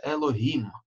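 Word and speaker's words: אלהים: значение, например, судьи, да, тогда оно читается Элохим. И иногда оно применяется как бы к несуществующим богам других народов. Тогда мы тоже читаем это слово Элохим, как оно написано.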